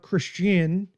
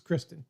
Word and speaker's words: Kristen: Yeah, not to be pronounced Christian. That's a going it's a ongoing family joke. It's Kristen.